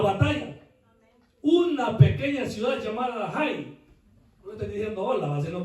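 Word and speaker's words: Hai: algo así se pronuncia Jai, la ciudad Oai. Oai, para ser más, ¿verdad?, fonético la pronunciación en español. Escribe H-A-I, pero en la Biblia cuando se utiliza H se pronuncia Ja.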